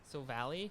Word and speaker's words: Silvally: can never pronounce this one how would you pronounce that valley silvally yeah um i think we've got some real